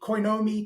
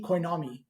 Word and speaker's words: Coinomi: A lot of people pronounce it strangely. Coinomi. Coinomi.